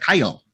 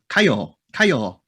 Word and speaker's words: Kyle: called they they don't they can't pronounce like the l really my name is like kyle kaio kyle i'm like what or or